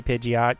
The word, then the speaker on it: Pidgeot: So it's like going Pidgeot. It probably is actually supposed to be Pidgeot because Pidgey, Pidgeotto, Pidgeot.